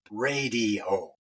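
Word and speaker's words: Raydio: 70s and early 80s with his band called Radio, and that's spelled R-A-Y-D-I-O, and then as a solo artist.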